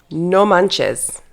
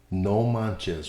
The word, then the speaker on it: no manches: primarily by Mexican Spanish speakers today's word is no manes no manes I've heard that or I've read that before how do you spell that no n o manchez m a n c h e s no Manz what does it mean it literally translates to